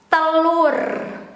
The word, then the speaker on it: telur: That is the formal way to pronounce it and also to write it with U here. But in daily conversation or casual, we sometimes, including myself, pronounce it as telur.